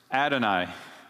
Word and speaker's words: Adonai: bush so in the in the Hebrew scripture this was written y h w h and pronounced Adonai a little confusing isn't